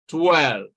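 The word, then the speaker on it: twelve: And so this is the correct option because this W is pronounced. All right, 12.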